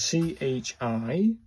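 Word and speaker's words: ち: This one's C-H-I, or it's pronounced like C-H-I, in Tai Chi.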